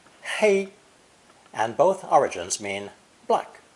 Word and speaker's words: 黑: In either case, this character is pronounced first tone, hei, hei, and both origins mean black in color.